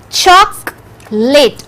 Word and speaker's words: chocolate: two syllables you know very good it has two syllables chalk lit o is silent o is silent so it is not chocolate it is not three syllabic sound it is chocolate so